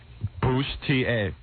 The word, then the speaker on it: bustier: Howard, what does the pronunciation guide say? I'm just curious. Bustier.